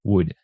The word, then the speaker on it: would: And speaking of consonants, the letter L isn't pronounced in should and would. It's not like should or would. No, it's just should, would, and that's all.